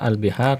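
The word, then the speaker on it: الْبِحَار: Al-biharu, kata al-biharu. Kata al-bihar jamaknya Ya Pak, lihat di sini. Ketika al-biharu, A-nya panjang ya, bacanya al-biharu.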